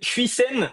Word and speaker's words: Huijsen: prononcer son nom en mais en Espagne ils disent jeisen parce qu'ils ont décidé que maintenant vu qu'il jouit pour l'Espagne ils allaient prononcer à l'espagnol mais évidemment on le